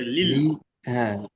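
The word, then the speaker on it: لِلَّهِ: লাম লাম লামজের লিল, লি, হ্যাঁ লাম লামজের লিল, লাম লামটা লামজের লিল, লিল্লাহ লিল্লাহ, হ্যাঁ হাজির হি, লিল্লাহি, হ্যাঁ লিল্লাহ, লিল্লাহি। হ্যাঁ পাতলাটা হবে এইভাবে, বুঝতে পেরেছি।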